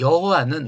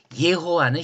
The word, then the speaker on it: 예호와: 어떻든 이 여호와는 우리의 종교적 전통의 발음이고 예호와는 히브리식 발음을 그래도 가장 비슷하게 왜냐면 히브리 사람은 이걸 발음 안 하죠.